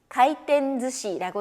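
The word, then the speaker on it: 回転寿司: 회전 초밥, 가이텐즈시라고 읽는데요.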